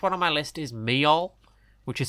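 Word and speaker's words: Meol: uh the last one on my list is me which is spelled m e o l which is like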